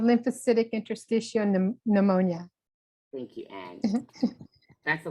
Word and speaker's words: lymphocytic interstitial pneumonia: you guys are giving me interesting words to pronounce here we go live Centric intestiophenoma pneumonia and Pulmonary Fibrosis two and a half years